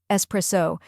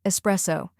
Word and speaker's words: espresso: like s in best there is no X sound here next we have pre